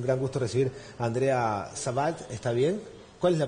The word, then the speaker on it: Sebald: Así que es un gran gusto recibir a Andrea Sebald, ¿está bien? ¿Cuál es la pronunciación correcta del apellido? Sebald.